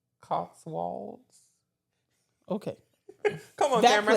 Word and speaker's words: Cotswolds: Spell it. COTSWOLDS. Cotswolder? Cotswolds.